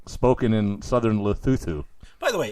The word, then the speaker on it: Lesotho: In Lesotho.